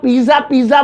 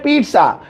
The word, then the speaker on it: pizza: तो पिज्जा मतलब ये जो टी है ये बहुत साइलेंट सा है, बहुत मामूली सा, चुन्ना पुन्ना सा है भाई, इतना सा पढ़ते हैं इसे पिज्जा।